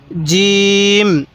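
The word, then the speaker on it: جيم: এরপরে জিম। জিম, এই শব্দটার নাম কি? জিম। জিমটা আমরা শক্ত করে উচ্চারণ করব। ফাটা নরম করে জিমটা শক্তভাবে উচ্চারণ করব।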